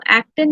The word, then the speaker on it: actin: made up of actin so actin is something which uh you know rhymes with the word action so you can assume